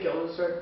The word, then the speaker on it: Guildenstern: I just say Guildenstern because that's how it's spelled.